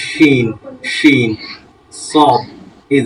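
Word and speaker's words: ش: সঙ্গে লাগবে সিন আর সিনটা হচ্ছে বাতাস বের হবে শিন শিন সিন শিন আপনাদের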